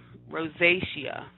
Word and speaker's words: rosacea: advanced stages of this condition or rosacea and rosacea is how you pronounce it and that's usually on the outer